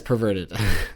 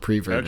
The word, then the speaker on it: perverted: Yeah, it's perverted. It's not preverted.